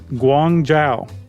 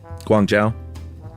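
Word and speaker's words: Guangzhou: This is how you pronounce it. Guangjao. Guangjao.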